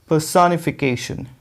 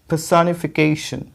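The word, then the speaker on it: personification: तो क्या कैसे प्रोनाउंस करेंगे आप, पर्सोनिफिकेशन, पर्सोनिफिकेशन, ये देख रहे हो के पे ही स्ट्रेस है, ठीक है।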